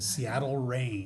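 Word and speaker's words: Seattle Reign: Think of stuff falling out of the sky. Although, it's spelled differently. It's wet. It's water. The Seattle Rain. The Seattle Rain. But it's spelled R E I G N.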